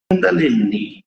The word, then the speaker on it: Kundalini: Kundalini, né? Que é o jeito certo de falar.